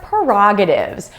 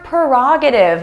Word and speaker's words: prerogative: Don't ask for opinions, ask for perspectives or prerogatives. What's your perspective on this issue? What's your prerogative on this point?